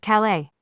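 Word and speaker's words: Calais: Agnes's group was running through the harbor district of the city of Calala. Incidentally, as a French city, that s is silent.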